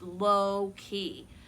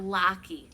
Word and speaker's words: Loki: By the way, his name is pronounced Loki, not Locky, like my sister says.